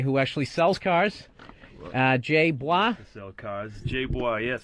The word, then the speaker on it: Bois: Jay Bois. Sell cars. Jay Bois, yes. Bois, how do you spell that? I was guessing B-W-A. It's B-O-I-S. It's French-Canadian. Oh, French-Canadian.